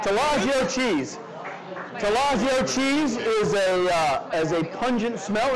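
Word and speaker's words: Taleggio: Our chef just told me how to pronounce it. So here we go. Ready? 1, 2, 3. Talaggio cheese. I thought what I was going to say was Talaggio.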